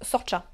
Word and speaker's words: Saoirse: Quand c'est écrit Saoirse là, ça S-A-O-I-R-S-E, eh bien ça se prononce Sorcha.